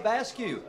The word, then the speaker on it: Vasquez: And Alyssa Vasquez, her dad told me the exact way to pronounce that. So it's just like barbecue, Vasquez.